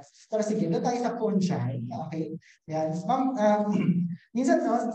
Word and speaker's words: fungi: Yeah, so sabi kasi ng mga Germans, fungi daw yun, hindi raw fungi. Kasi nga, yung kunwari, paano mo ba ipo-pronounce yung singular form ng fungi? Di ba fungus? O, di ba? Pinalitan mo lang yung US, naging G, naging J na yung G, no? Ayan, so fungi daw, fungi.